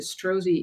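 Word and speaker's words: Strozzi: I had the luck to go to The strozy Institute in Petaluma California and I encourage everyone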